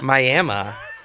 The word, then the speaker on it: Miami: we also have a Miami, which is spelled like Miami. Miami? Miami.